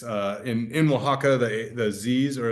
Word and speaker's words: Oaxaca: And it's in Oaxaca, the Z's, or a lot of the X's, sorry, have an H sound, and so you get the Owa.